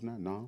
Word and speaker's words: NAMM: Am I pronouncing that right, Deuce? Namm? Namm, it's all Namm.